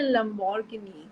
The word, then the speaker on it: Lamborghini: That song, what happens is now you don't say Lamborghini, which is the actual pronunciation.